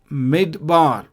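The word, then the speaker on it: מִדְבָּר: short vowels P seik Etc let's take examples mid bar so mid bar here before the doth you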